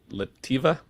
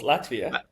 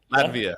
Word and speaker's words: Latvia: Um in Lati Lativa almost Latvia. Latvia.